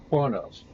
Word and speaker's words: Kronos: He says it. Kronos, like kind of like it's spelled. Doesn't add an R in there.